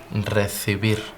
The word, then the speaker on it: recibir: Recibir.